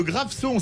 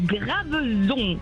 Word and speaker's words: Graveson: Vous nous appelez de Graveson, ça se prononce comme ça dans les Bouches-du-Rhône. Graveson.